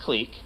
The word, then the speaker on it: clique: than it is but it's pronounced culture it's pronounced clique that's the proper pronunciation and you know he got made fun of for saying clique but it's pronounced clique anyway um that's but you